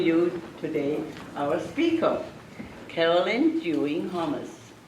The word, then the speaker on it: Dewing-Hommes: It gives me great pleasure to introduce to you today our speaker, Carolyn Dewing-Hommes. That's how you pronounce it. It is, Hommes.